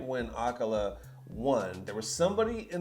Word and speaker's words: acola: Apparently his name is pronounced Acola, and I'm over here saying Acola like he's some type of beverage.